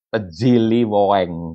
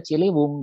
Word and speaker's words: Ciliwung: Kalau sekarang dibaca Ciliweng kalau anak sekarang yang harus baca. Padahal ini dibacanya Ciliwung gitu ya, Ciliwung.